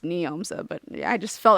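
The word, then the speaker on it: Njomza: people want to check her out um it's pronounced neomsa but I just felt like I should say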